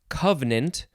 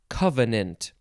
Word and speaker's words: covenant: the next word is pronounced a couple ways covenant or covenant two syllables or three syllables first form noun from